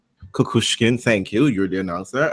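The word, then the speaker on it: Kukushkin: Bon churich there I saw um kushkin I pronounced his name m i saw kushin kushkin thank you you're the announcer and so is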